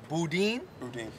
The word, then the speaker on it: boudin: premiere item which is the boudin he pronounces it bodine i thought he said